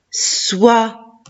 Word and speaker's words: soie: Soit, très bien. C'est, wa, soit, et à la fin, la lettre E, je ne la prononce pas.